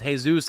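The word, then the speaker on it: Jesús: He said actually Cleo's bodyguard name was Jesus, as in the Mexican name. That's spelled like Jesus Christ.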